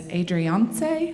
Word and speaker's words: Adriance: It's Adriance, like Beyonce.